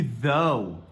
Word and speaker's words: though: na tela, todos têm esse GH que fica muito esquisito, mas olha as pronúncias. Nós temos tough, through e though. Tough, through, though. Mas, cara, olha só, as letras parecem as mesmas, mas são sons completamente diferentes.